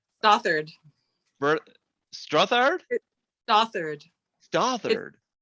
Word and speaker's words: Stothard: butcher your name, Stothard. Stothard. Stothard? Stothard. Stothard. It's British, so okay. Like if you try to pronounce it with an English accent, it'll sound better.